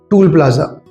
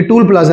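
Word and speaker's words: toll plaza: जैसा कि एक लफ्ज़ है टूल प्लाज़ा, ये टूल प्लाज़ा नहीं होता, ये टोल प्लाज़ा होता है।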